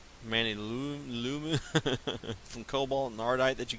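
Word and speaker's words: Manyullyn: like this alumini manillium i think it's a pronounce it manny lumen from cobalt nardite that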